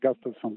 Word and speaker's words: Gustafsson: No, like you said, Gustafsson.